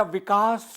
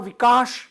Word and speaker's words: विकास: तालव्य प्रयोग किया है हम हिंदी में या संस्कृत में प्रायः विकास बोलते हैं जो स दंत स दांतों से जिसका उच्चारण होता है विकास सागर तो विकास और विकाश दोनों शब्द होते हैं उन्होंने तालव्य श शंकर